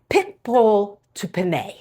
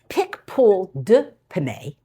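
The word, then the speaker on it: Picpoul de Pinet: Now, this first wine, which is this bottle, is pickpool to pan. Nope, it's not. It's pickpool d pane.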